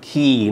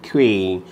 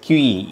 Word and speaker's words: quay: That word is pronounced as Key, not Quay. People mispronounce Quay, but that's Key in British English.